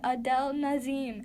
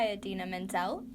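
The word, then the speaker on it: Idina Menzel: or wow adina mendel at least i didn't mess that up as bad as uh john travolta at the oscars when he said adele nazim anyway a din adina mendel i know how to say her name uh from frozen because you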